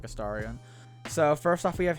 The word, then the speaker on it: Astarion: I usually pronounce it like Astarion.